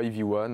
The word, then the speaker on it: EV1: C'est ça, EV1, on le prononce aussi en anglais.